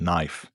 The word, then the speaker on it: knife: up in words like knife, knee, knock, no. You don't say the K but is there front and center. Why? Because in old English the K was not silent.